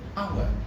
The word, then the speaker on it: hour: aspirated for example mute when you look at the hour in our you have h there so that h is not pronounced but when you look